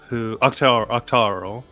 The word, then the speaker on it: Octarel: So last week on Dungeon of the Mad Mage, we were following our new friend Octarel, Octarel rhymes with Carl, who was working with Henrietta, his boss, and they were doing the whole fake vampire thing.